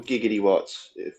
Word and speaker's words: gigawatts: 30 megawatts 30 gigawatts gigawatts it's jiggity watts or giggity watts gigawatts i use the i use the dr brown pronunciation but did everyone just